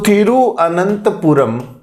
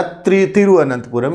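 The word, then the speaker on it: तिरुवनंतपुरम: अपन तिरु बोलते हैं, थिरु होता है, क्योंकि तमिल, तेलुगु, मलयालम में थिरु का मतलब श्री होता है।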